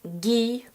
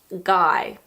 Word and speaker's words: Guy: It was originally a French name and in French it's pronounced "Guee", but in English we pronounce it "Guy".